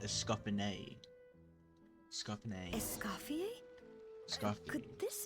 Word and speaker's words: Escoffier: So it's pronounced Escoffier.